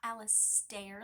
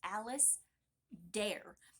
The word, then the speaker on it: Alistair: It's not Alistair like the stairs. It's Alice Dare.